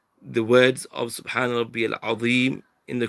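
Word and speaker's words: عظيم: So you're pronouncing this from the top of the tongue and the inner edges of the upper front teeth, the dha. But many people are not pronouncing it from there, and they're pronouncing it as they would pronounce Z. So they're pronouncing the za and the dha in the same way.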